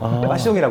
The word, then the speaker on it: 빠숑: 패션이라고 하는 열정이라는 단어가 있잖아요. 그것들을 좀 이렇게 프랑스식으로 좀 고상하게 발음하고 싶어서 빠숑이라고 한 거예요.